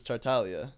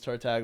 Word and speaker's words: Tartaglia: So, the the Italian way to pronounce it is Tartalia. Yeah. Tatalia. Okay. Yeah. But the American version is Tartagia.